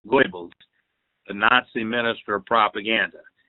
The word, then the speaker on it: Goebbels: This is from Joseph Goebbels, pronounced Joseph Goebbels, the Nazi minister of propaganda.